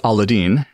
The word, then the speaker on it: Aladdin: to make that joke it's aladine and I mean that is the proper way to pronounce it so those are